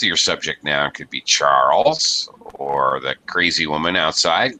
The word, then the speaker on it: Charles: Not Cha- Charles. Charles. One syllable. Charles.